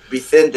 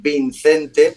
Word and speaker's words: Vicente: En vez de decir Vicente, decían Vincente. Vincente.